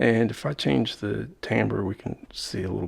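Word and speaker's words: timbre: confession sometimes I say timber sometimes I say tamber I think tamber is the correct uh french-based pronunciation but Timber has become okay too a little bit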